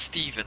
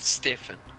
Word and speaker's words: Stephen: It's pronounced Stephen, not Stefan. So is it Richard something?